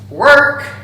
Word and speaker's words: work: As you can see, as you can hear, the pronunciation is really similar, but if you pay attention, my mouth has a different movement in pronouncing these two words.